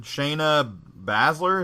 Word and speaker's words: Shayna Baszler: I've never been right uh UFC for horsewoman Shayna Baszler is how you say her name i don't